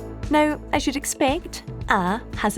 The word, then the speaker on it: à: I'm out of argyle you'll notice that ah or us is spelled with an accent the accent in garlic usually means the vowel is long but here it's used to show that the sound is a nice open ah now I should expect